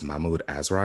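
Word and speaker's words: Mahmud Asrar: was drawn by uh i think it's mahmood azra is how you pronounce his name and i got some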